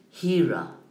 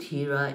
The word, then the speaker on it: Hira: that is called Mount Hira and Hira is written the way basically that you pronounce it h i r a he would go to